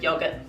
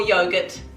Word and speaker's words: yogurt: That's my pronunciation of yogurt. Or yogurt, as the case may be. I am originally English, and although my Kiwi accent has certainly developed over the years, yogurt is just one of the words I'm hanging on to with an English accent.